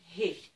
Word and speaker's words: He: En fait, la lettre He, le mot He au dictionnaire, signifie souffle et fenêtre. On l'entend d'ailleurs, He, c'est une lettre qui se prononce comme un souffle.